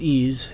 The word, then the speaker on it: EES: EES, which is pronounced EASE, is an acronym for Engineering Equation Solver. In the last video, we talked about ideal gas fluids that are built into EASE.